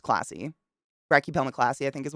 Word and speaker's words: klaasi: It's Klaasi, I believe is how you no, Klassi, but it's pronounced classy.